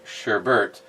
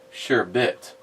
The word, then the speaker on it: sherbet: stephen my wife uh always educated me on the pronunciation of sherbet i say sherbert but it's apparently sure bit who knew i have never heard anyone pronounce it sure bit sure bert is what i always hear but then again don't take